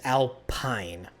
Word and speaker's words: Alpine: That is Alpine. P-I-N-E is pine, not peen.